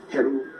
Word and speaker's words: Heru: Hathor, the wife of Horus, Heru, the proper name is Heru.